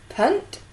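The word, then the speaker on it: Punt: African Coastal land of it it is say what you see Punk yes on the Red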